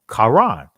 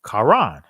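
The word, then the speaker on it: קרן: It's pronounced Karan, right? Quaran is pronounced Karan.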